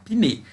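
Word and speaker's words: Punnett: Se escreve Punney, mas a gente se chama Piney.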